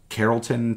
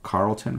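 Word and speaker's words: Carrollton: this was in uh Carolton Texas or Carlton however you want to pronounce that I'm pretty sure it's Carolton though and our placing are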